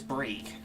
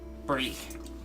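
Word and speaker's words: Brheeg: The H Okay. is silent. Brieg. Bree.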